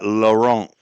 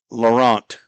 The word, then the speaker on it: Laurent: Top of the second inning, Owen Hutchison, Carson Tucker, Eli Laurent. That's the hockey pronunciation of Laurent as he lifts one out to center field.